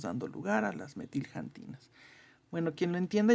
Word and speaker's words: xantinas: una cosa que son se llaman las janinas con x así se pronuncia acá en México por lo menos janinas no y